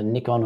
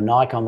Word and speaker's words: Nikon: Interesting thing about that, Danny, too, is I came from Nikon or Nikon, whichever way you want to pronounce it, but I had the D4S and